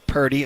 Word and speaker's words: Purdy: We had played last segment the part where he said, we need to stop with the narrative that I don't like Brock Purdy.